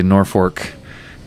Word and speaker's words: Norfolk: town that we unload Norfolk Nebraska and there's the locals say Norfolk and he he Parks